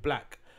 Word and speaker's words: 6lack: And then anyway, so I was thinking about that, and I saw this clip with Black. I'm sure you guys are familiar with him. It's spelled like 6 with a L-A-C-K.